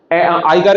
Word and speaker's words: ICAR: आई कार, इसको आई कार पढ़ते हैं, ICAR भी आप पढ़ सकते हैं, in general it इज प्रोनाउंसिएटेड एज आई कार, Indian council of agriculture